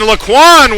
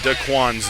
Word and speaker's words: Daquan: a change here, and Laquan with a big hit there, driving back Denton, seemingly single-handedly. I'm being told I've been mispronouncing Daquan's name. It is Daquan who single-handedly drove the Denton offense back.